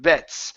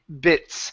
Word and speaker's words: bits: This time around, it was almost like an E, saying bets. So instead of bits. So make sure your tongue is touching the bottom of the top of, or sorry, the bottom of your top teeth.